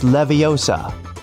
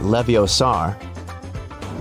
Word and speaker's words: Leviosa: Hey Siri, it's Leviosa, not Leviosar.